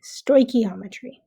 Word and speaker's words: stoichiometry: on your screen and I've also provided the pronunciation for you so it's just sto gometry sto ometry so what is it well the definition as